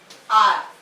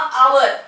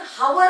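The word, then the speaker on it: hour: याचं उच्चारण आर किंवा आवर असं सुद्धा करतात. खरं युरोपियन इंग्लिश प्रमाणे आर असं उच्चार करतात किंवा आवर असं म्हटलं तरी चालेल. आवर म्हणा थोडक्यात. आवर असं याचं उच्चारण होतं. याचं उच्चारण हावर होत नाही. हावर होत नाही. उच्चारण काय होतं आवर होतं.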